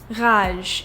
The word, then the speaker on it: rage: For example, let's take the word rage, which in French is the same thing just pronounced differently. It's ra. As you can hear, I'm making the gargling soundv like that. The sound is coming from the back of my throat.